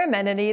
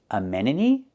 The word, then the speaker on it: amenity: Amenity? There's no word amenity. She means to say amenity. The T is pronounced with a fast D. Itty, amenity, amenity.